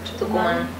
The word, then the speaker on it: Tucumán: Is that how you pronounce it? Tucumán.